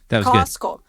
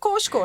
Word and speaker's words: Costco: Costco. Why we don't say the T? Costco. That's a good question. I don't know why.